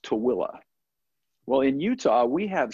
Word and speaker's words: Tooele: It's spelled T-O-O-E-L-E. It's pronounced Tooele.